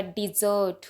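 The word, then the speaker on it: dessert: एक और डिजर्ट होता है, उसमें डबल एस स्पेलिंग भी चेंज है उसकी, लेकिन प्रोनाउंसिएशन सेम वर्ब वाले डिजर्ट की है।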